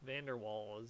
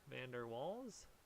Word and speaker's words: van der Waals: something called Vander Falls Van Der waals or something I'll put I forgot how to pronounce this van der waals it's like Dutch I believe van der waals you